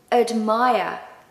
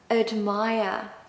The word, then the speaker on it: admire: So u admire admire. And of course no R pronunciation at the end.